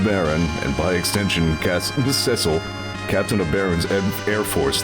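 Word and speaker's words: Cecil: of the game that it is in fact pronounced Cil not Cil Captain Cil will arriving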